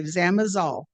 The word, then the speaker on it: Zamazal: Am I pronouncing that wrong? I think Zamazal. Is that correct? Oh, okay, Zamazal. Thank you, Kathy.